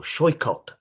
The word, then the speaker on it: Saikat: So my name, Saikat, or Shoikot, as it's pronounced in Bengali, means the seashore.